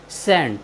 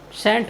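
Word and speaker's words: scent: एक साथ आए हैं इसलिए हमने सी का उच्चारण नहीं किया है हमारा नेक्स्ट वर्ड है एस सी ई एन टी सेंट सेंट होता है सुगंध या खुशबू और हमारा नेक्स्ट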